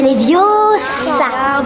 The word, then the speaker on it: Leviosa: Et puis d'ailleurs, tu ne sais même pas le prononcer. C'est Leviosa.